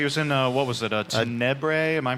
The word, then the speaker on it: Tenebrae: Yeah, he was in, what was it, Tenebrae? Am I pronouncing that right? Tenebrae.